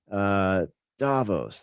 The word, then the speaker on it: Davos: Davos, that's right.